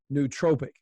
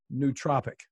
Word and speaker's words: nootropic: all, even the term, now I've been pronouncing it nootropic, but you pronounce it nootropic. There's a big debate in the neurohacking and biohacking space about how to pronounce it.